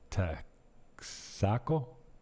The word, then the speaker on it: Texaco: They put the accent on the end. Texaco.